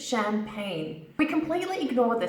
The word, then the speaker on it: champagne: from champagne in France it's pronounced from two syllables champagne champagne for example would you like some champagne I love drinking champagne let's have a glass of champagne together champagne it's not Chum Park net or chub Parkman and